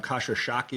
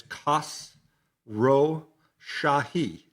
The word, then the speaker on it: Khosrowshahi: I think you were saying you were calling him Kasha Shaki or whatever, but we did go to the internet. It's Kas Ro Shahi and it's and I've